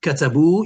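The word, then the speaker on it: كَتَبُوا: Katabu, you've got your alif al-fariqa, which is silent.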